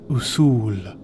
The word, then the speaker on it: Usul: This word in Arabic is pronounced Usul, Usul, Usul.